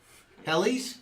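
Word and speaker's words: Helles: Hellis? Hellies? Helly? Is that what how it's pronounced? Hellies? I would say close.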